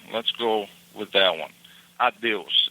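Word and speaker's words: adeus: Addios. It's a d eus.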